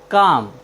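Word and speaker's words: calm: सी ए एल एम काम काम मीस होता है शांत यहां पर एल एम के पहले आया है इसलिए हमने एल का उच्चारण नहीं किया है साथियों चलते हैं अपनी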